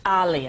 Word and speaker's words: Aaliyah: It's Aaliyah. Aaliyah. Like Muhammad Aaliyah.